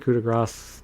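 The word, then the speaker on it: coup de grâce: I say it that way because it's what's his name? Finn Balor's finisher used to be. That's how they pronounce it. Some people say coup de grace. Actually, coup de grace the way it's supposed to be, but we're not getting into that.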